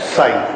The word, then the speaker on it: psi: Anyway, तो ये स से बना हुआ है, स, स और च के बीच में psi.